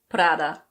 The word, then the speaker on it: Prada: This is another Italian brand and in Italian it's pronounced Prada. Prada. That's probably not perfect because it's a bit difficult for me to roll my Rs, but in any case, in English we don't roll the R at all.